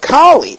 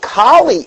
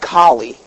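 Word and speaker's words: Kali: heard it now what kie is is you spell it k a l i it's not like the dog klie okay it's k a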